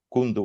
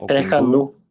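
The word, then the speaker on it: Tres Kandú: El punto más alto sería el cerro Kundu o algo así, no pronunciado bien. Tres Candú. Tres Candú, perdón.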